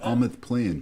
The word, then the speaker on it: Almoth Plain: Almoth Plain. Okay. This sounds like a breakfast cereal. Almost plain and almost with raisins. Almonds with almonds. I'll take that Almoth Plain, please.